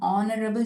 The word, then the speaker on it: honorable: An honorable chief minister. An honorable minister. Honorable. It isn't honorable. How hotel. Here in these words, the letter H is silent.